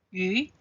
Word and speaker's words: 鱼: 鱼的发音跟鱼一样，所以有鱼就是有余。